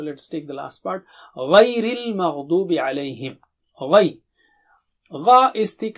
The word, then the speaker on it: غير المغضوب: Du is very, dad is thick and high. Dubi. And make sure you pronounce the dad properly. Dubi. Ghayril maghdubi. So repeat after me once. غير المغضوب غير المغضوب عليهم.